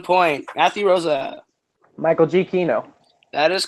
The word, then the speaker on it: Giacchino: Michael G. Kino. That is correct. Okay. People are starting The to correct pronunciation.